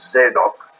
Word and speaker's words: Zadok: And that is Zadok, which is pronounced in Hebrew as Zadok.